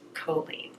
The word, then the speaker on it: Colleen: in real life but her name is pronounced Colleen and I've been watching her